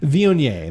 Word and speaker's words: Viognier: Is that how you pronounce it? Viognier? Viognier. Viognier.